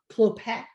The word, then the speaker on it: Clopet: He's Monsieur Clopet. Yeah, never pronounce the final T.